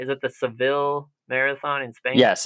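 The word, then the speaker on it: Seville: right is it the cevil marathon in Spain yes it's cevil cevilla if you were saying it as the locals say but uh it's sevil in English um that was an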